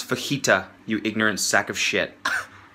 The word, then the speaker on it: fajita: for you yeah I'll have the Fujita's please pronounce fajita you ignorant sack of